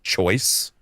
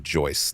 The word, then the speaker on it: Joyce: I thought he said Jack Choice, and I thought Jack Choice was a sick ass name for a time travel protagonist. It's actually Joyce, like J O Y C E.